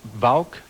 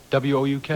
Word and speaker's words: Wouk: I may mispronounce it, but Vauk? W-O-U-K?